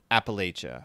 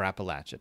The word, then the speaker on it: Appalachia: much you know about Appalachia or Appalachia depending on how you want to pronounce it the other one area